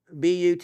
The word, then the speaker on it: Butte: Now remember, the way the last of the word is pronounced, Butte is a butte.